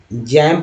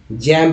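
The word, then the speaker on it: jamb: तो देखिए ये जैम पढ़ेंगे, जैम्ब नहीं लैम्ब पढ़ेंगे, लैम्ब नहीं, बी साइलेंट है, बी साइलेंट है, साइलेंट कर देते हैं।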